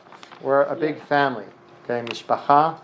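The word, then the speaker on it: משפחה: We are one big mishpacha. We're a big family. Okay, mishpacha in Hebrew, pronounced mishpacha sometimes.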